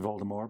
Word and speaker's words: Voldemort: series Voldemort no similarly it's uh pronounced Voldemort because it's French for flight of death and he has a